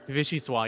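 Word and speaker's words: vichyssoise: Is it vichi vichi or something? It looks French. Vichy swah. Yeah, it's French.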